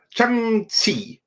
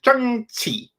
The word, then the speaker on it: Shang-Chi: It was like Shang-Chi. Yeah, I think that was it. Shang-Chi. That's how it's supposed to be pronounced.